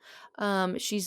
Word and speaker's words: sidh: I have no idea how it's pronounced she. It's spelled SIDH.